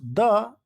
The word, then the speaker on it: the: Where to use, where to pronounce द end where to pronounce दी, ठीक है। यानी कि कहाँ पर द और कहाँ पर दी का उच्चारण करें, ठीक है। आप लोगों ने देखा होगा कि कहीं पर हम लोग दी पढ़ते हैं और कहीं पर द पढ़ते हैं, THE को, ठीक है।